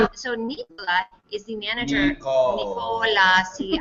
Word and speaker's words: Nicola: Nicola. See, I like to say it like Ricola, like the rucola.